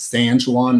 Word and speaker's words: San Juan: are there for that it's actually spelled with sand san juan like the high school but it's sancholon they say it like that i don't know